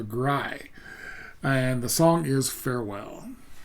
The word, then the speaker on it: ГРАЙ: It's a the the um accent is on the I part. So, Gry and the song is Farewell.